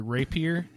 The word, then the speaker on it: rapier: Well, I have my hand on my, how is this pronounced? I'm sorry, rapier?